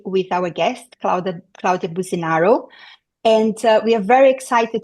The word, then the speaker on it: Claudia Businaro: friend Jamie Caro and I, with our guest, Claudia Businaro. And we are very excited to have Claudia in the podcast. And I'm going to introduce Claudia for us, for who don't know her. Claudia Businaro is a UKCP accredited psychotherapist.